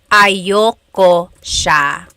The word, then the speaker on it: ayoko siya: Usually it's pronounced ayoko siya. So if you want to sound a little bit more natural, you put everything together, ayoko siya. Ayaw ko siya is ayoko siya.